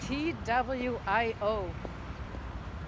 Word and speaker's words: TWIO: T-W-I-O. How the heck do you pronounce it?